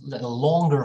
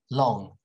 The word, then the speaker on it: long: know tense like more longer vowels they like to stretch their vowels a little bit like british people say long long for this word long but american people say long okay so this all